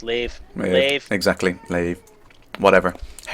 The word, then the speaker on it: Lave: Lave, lave, lave, larve. It's lave. Yeah, Lave. exactly. Lave. Whatever. How you pronounce things is totally irrelevant.